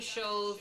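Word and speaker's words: Schulze: strong until it's us doctor shows is spelled um s-c-h-u-l-z-e apostrophe s so you can go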